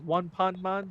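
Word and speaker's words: ワンパンマン: The way how you say it in Japanese, like One Pan Man, that's supposed to be a play on Anpan Man.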